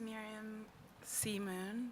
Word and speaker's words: Miriam Simun: My name is Miriam Simun. That's how you pronounce.